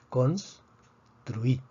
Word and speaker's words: construí: Vemos que la palabra termina en vocal, por lo tanto predecimos que la fuerza debería estar en la penúltima sílaba, sin embargo está en la última sílaba, entonces necesitamos escribir un acento de excepción.